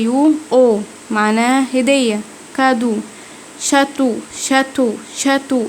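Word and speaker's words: château: شاتو اللي هو قصر، نطقت الاي اي يو او.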